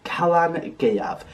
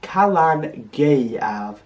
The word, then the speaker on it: Calan Gaeaf: celebrate Sinn we celebrate Kalan gav it's pronounced Kalan G a that e in the middle might be a little tricky for those of you who don't speak Welsh but just keep at